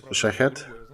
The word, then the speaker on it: Shahed: She came to a conclusion that these drones basically they're called Shahed, very similar to the pronunciation of Shahid's belt.